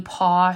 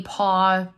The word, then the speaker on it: Paauw: And if you Google Kathy Paw RAM dump, there's a free PDF that'll pop up. Her last name is spelled Paauw.